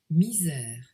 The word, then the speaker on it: misère: This game sometimes goes by the name of Misere Tic Tac Toe, Misere, how do you say that? Misère.